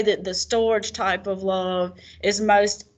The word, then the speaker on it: storge: No, it's storge. It's storge. That's how you say it.